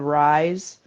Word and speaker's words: Ryze: And then at about 8 o'clock, I get a text from the coffee substitute called Rise.